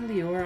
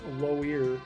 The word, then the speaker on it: Loire: Brant went to Lior Islands. Not Lior, that's Loire.